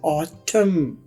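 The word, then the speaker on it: autumn: यहां पर N silent होगा। ये लफ्ज है ऑटम। ऑटम। देखिए एन की कोई आवाज नहीं।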